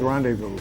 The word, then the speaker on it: rendezvous: wait it was scaled rendezvous which you didn't pronounce the z but it was there do you dump it out the z is silent why is it there